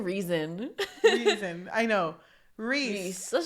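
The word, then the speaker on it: Rhysand: I kept saying Rysand because it looks like Rysand. Yeah, but his nickname is Reese. I know. Okay, so Reese. It's like you're saying reason.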